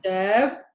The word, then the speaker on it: شاب: Look at the difference is this. اثنين is شعب. See the difference? شاب, شعب.